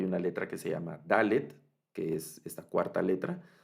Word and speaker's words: dalet: letra que se llama dalet que es esta cuarta letra la tablet que el sonido de la galette es el equivale al sonido de nuestra d es como una de